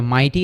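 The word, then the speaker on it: mighty: Simply মনে রাখতে পারি ভাওলের পরে যদি জিএইচ আসে তাহলে ওই জিএইচটা কমপ্লিটলি সাইলেন্ট থাকে।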